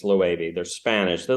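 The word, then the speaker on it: Loewe: their bags it's felt it looks like it's spelled low but it's low 80 they're Spanish they like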